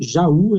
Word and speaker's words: Jaú: Licença, por que Jaú é acentuado? É hiato, né? Já, tracinho, U. Onde o U é tônico e está sozinho.